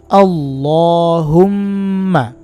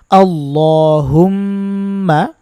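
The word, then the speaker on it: اللهم: কিন্তু শুদ্ধ হবে না এটাকে বলতে হবে আল্লাহুম্মা জবরটাকে বাংলায় আকার দিয়ে বুঝা হয় সেই হিসেবে এটা দেওয়া এখন বাংলার সাথে যদি আপনি আরবি মিলিয়ে ফেলেন একটা ভাষার সাথে আরেকটা ভাষার উচ্চারণ মিলানো যায় না এক ভাষা দিয়ে ওই ভাষাটাকে ওই ভাষার মত করেই বলতে হবে এই আর কি আপনারা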